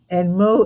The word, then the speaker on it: Meaux: Rhonda Robichaux and Mo is spelled Meaux, if you get the pun.